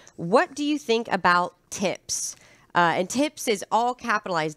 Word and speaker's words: TIPS: to pronounce that properly tips I'm going to enunciate the p tips are treasury inflation